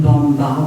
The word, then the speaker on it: bomba: Stell it's polish s pronounce the same bomba with the a at the end and it was called